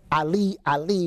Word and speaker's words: Eli: a loud voice saying Eli Eli or Ali Ali would be the proper pronunciation in Hebrew Ali Ali he says